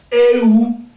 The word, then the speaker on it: ewu: Let me teach you how to pronounce this thing right. Ewu.